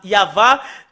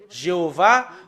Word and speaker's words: Yahvah: sont enlevés de l'original normalement ça doit être yava que qu'on doit le prononcer bah ça a changé en y avit Jéhovah ou you ben alors que ce sont des noms qui n'ont pas été prononcés par les Juifs mais ce qui a été prononcé par les Juifs c'est yava et tout ceux qui